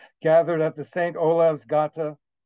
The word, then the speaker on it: Gata: Olav's Gata. And Gata is spelled like gate, G-A-T-E, and in Norwegian translates to